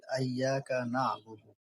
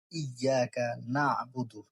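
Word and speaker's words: إِيَّاكَ نَعْبُدُ: আমরা অনেকেই পড়ার সময় তাসদ খেয়াল না করেই বলি আইয়াকা নাবুদু। কিন্তু সঠিক উচ্চারণ হল ইয়াকা নাবুদু।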